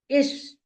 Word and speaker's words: ich: For example, ish. Many Indian learners, they will say ik, but that is wrong. It should be ish, I. That soft sound should be there.